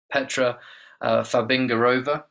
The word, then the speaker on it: Petra Fabingarova: coordinator for international students, Petra Fabingarova. I really hope I've said your name correctly there, Petra. It's lovely to have you on. How are you this evening? Good evening. Your pronunciation is perfectly Czech.